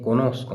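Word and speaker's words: conosco: तो ती मतलब तुम्हें कोनोस को मतलब मैं जानता हूं कोनोस रे वर्ब है जानना यो कोनोस्को तू कोनोशी लुईले कोनोस तो इस तरीके से वर्ब को प्रोनाउंस करना है कोनोस्को मतलब मैं जानता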